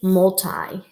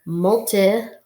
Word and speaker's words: multi: hmm my turn molta molta might be multi like multifamily but usually we're gonna hear multi like an multiply or a multiplication so Malta together Malta